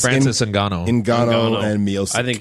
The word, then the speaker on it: Ngannou: Nagano? It's Francis Ngannou.